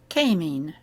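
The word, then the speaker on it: kémény: Kémén. You've got a long E there, so instead of being a, it's an a.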